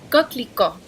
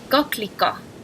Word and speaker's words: coquelicot: Coquelicot.